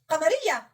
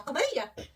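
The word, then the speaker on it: لام قمرية: Did you hear lam? Al. Yes. Al. Why? Because this call Laam Qamariya.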